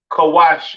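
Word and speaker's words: כוש: have Kush all right Kush pronounced kawash in Hebrew all right uh famous kushites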